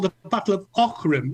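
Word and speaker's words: Aughrim: It's the following year and it's called the Battle of Orim. It's spelled A U G H R I M, but it's pronounced Orim.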